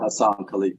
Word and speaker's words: Haisan Kaleak: And today we're joined by Soke Haisan Kaleak. I hope I'm pronouncing that right, Soke. Yeah, Hassan Kaleak, yes, sir.